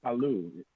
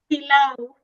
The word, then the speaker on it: pilau: Swahili Palu. Do I say it right? Palu? Pilau. Pilau. Yes, pilau.